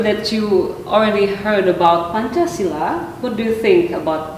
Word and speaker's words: Pancasila: I pronounce well. Yes, Pancasila.